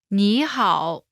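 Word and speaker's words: 你好: good Hall together it's nihal this phrase literally means you good but translate says hello pronunciation note when there are two third tones in a row the first one changes to the second tone listen to the pronunciation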